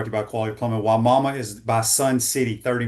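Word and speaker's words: Wimauma: That's so so the way the Y mama was the way you pronounce this city that Josh is moving to. Rich says here on YouTube brought to you by Quality Plumbing. Why mama is by Sun City,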